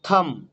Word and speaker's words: thumb: তারপর থাম, THUMB, থাম নয়, THUMB, বি কিন্তু সাইলেন্ট।